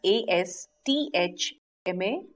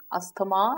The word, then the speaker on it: asthma: Now we write it as A-S-T-H-M-A, asthma, and we pronounce it accordingly. But the right pronunciation is actually asthma.